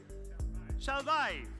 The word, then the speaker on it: Kjellberg: Jonas Kjellberg, and I said, can I say Kjellberg, or how do you say it in Swedish? He said, in Swedish you say, Kjellberg.